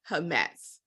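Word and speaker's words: חָמֵץ: So that's the word, but it's pronounced hametz.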